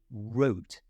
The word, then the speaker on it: wrote: here in the word wrote it starts with a w when a w is in front of an R the W is not pronounced it's silent so it's lips forward for wrote She Wrote really rapidly